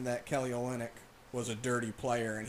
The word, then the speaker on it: Olynyk: Kelly Olynyk. Olynyk. It's because I see it in my head, even though I know how to say it. So once I see the Y, I think only.